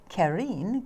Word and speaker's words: Karin: like five years so it's like not Karen most people say Karen that's all right I'm